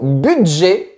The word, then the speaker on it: budget: Maintenant, le mot budget sert à désigner une somme que l'on possède pour une dépense précise. Mais pour montrer ma révolte, j'ai décidé de retirer la prononciation du thé.